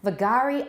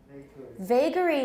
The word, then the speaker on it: vagary: right the next one vagari i never heard we say vagary means something that is